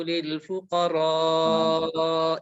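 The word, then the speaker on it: الفقراء: Maka beliau membaca innamas shadaqatu lil fuqara'i, memanjangkan al-fuqara karena memang dipanjangkan. Maka di sini menunjukkan bahwasanya Al-Qur'an ini memang harus dibaca secara khusus, berbeda dengan yang lainnya.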